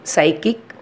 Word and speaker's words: psychic: Then psychic, then psychology, then pseudonym. In above all the words, the letter P is silent.